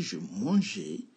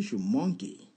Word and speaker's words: mangeais: Le G et le A, ça fait ga. Donc, au lieu de dire je mangeais, sans le E, ça va donner je manguais.